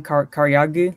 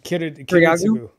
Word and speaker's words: Kiritsugu: forth between Kotamine and sorry, how do you pronounce his name? Karyagu? Karyagu? Kiritsugu.